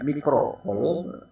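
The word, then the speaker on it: microcoulomb: Muatan listrik Q1 4 mikrokolom itu bacanya, mikrokolom, dan Q2-nya 6 mikrokolom.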